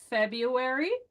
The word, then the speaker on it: February: The W's are hard, and it took me years to be able to say February and salmon because those silent letters make no sense to Spanish speakers.